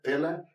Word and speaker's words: Pelle: So I read the interview uh Pelle Pelle. Yeah. I don't know how it Yeah. You pronounce it like you're football player.